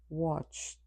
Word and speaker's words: watched: The last sound you hear in the word watch is ch. In its past form, the final ed will be pronounced t watched.